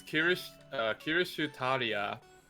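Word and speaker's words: Kirschtaria: So it's Kirishutaria Wodime.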